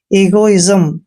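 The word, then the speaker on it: egoism: बोलते clear next है ई जी ओ आई एस एम ई का उच्चारण यहां पर ई करेंगे और जी को ग पढ़ना है ओ को की मात्रा पढ़ते हैं आई को ई की मात्रा पढ़ेंगे जब भी एस से पहले आई आता है तो एस का उच्चारण आधा ज करेंगे और एम को मैं पढ़ेंगे इगो इजम दोस्तों इगो इजम का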